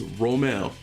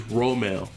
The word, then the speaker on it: Romel: It is Romel. So for those who misinterpret and said it wrong, it is Romel. Like roll, like the Rome. So it's Rome. Just add the L.